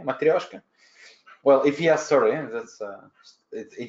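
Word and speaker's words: матрёшка: was was it - Russian accent no material can you say it like me matryoshka well if yes sir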